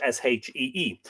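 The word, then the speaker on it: síde: The pagan Irish worshipped the Shei, Side, but pronounced Shee, i.e., the earth gods, or fairies, or elves.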